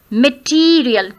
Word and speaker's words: material: Material, material. T is to be prolonged. Material. So there are four syllables. Material. Second syllable is to be stressed.